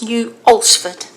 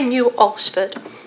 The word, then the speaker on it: New Alresford: collection and I've had to check how you pronounce the name of the village, and I believe it's New Alresford. I've got that right, Heather? Yep, is that okay? New Alresford.